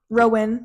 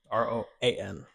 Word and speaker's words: Roan: It's Yeah. not Rowan. Rowan. Rowan. Rowan. Roan.